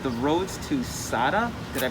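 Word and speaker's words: Sata: All right, so I found this book in here called The Roads to Sada. Did I pronounce that correctly?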